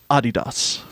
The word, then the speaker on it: Adidas: for 2020 is to pronounce Adidas the way that they do in England, because we just found out that they say Adidas.